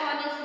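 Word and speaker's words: honest: Dash ऑनेस्ट मैन is trusted bye ऑल। ऑनेस्ट का ओ जैसे आपको पता है वॉवेल है, एच साइलेंट है, तो आप लिखेंगे एन।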